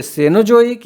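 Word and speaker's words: Cenozoic: Play मी, play से पैलियोजोइक, मी मेसोजोइक, scene से सेनोजोइक या सीनोजोइक भी इसको पढ़ा जाता है, पढ़ते हैं लोग, प्रोनाउंसिएशन में है।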